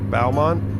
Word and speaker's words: Beaumont: Beaumont. Why do they spell it like that then? You're on the other side of the road. How do you even give me a speeding violation? No, bow like bow tie.